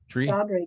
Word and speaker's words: Seshadri: I'm trying to get your last name wrong. Seshadri, is that right? Seshadri, good.